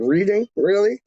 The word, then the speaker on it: Reading: pronounce the word Reading right.